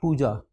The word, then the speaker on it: Pooja: Okay, a simple answer would be that double O sounds more like puja. You would be like puja. Puja, है ना? Yes, sir. I mean, it's closer to the Hindi pronunciation of puja.